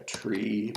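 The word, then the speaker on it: trie: that you can use like a tree that's spelled funding like t-r-i-e uh where's the Wikipedia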